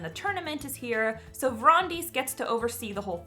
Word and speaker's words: Brontes: Next up is Vrondis, Sovereign of Thesson. I know it's spelled Brontes, but that's not how you say it, because names are a bitch and life isn't fair.